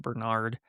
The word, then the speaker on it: Bernard: and he's an alpha plus like Bernard, which is how you say it, Bernard.